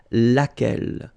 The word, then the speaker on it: laquelle: blow l oh well phonetically here it is the same as what we have here so lack l so the only difference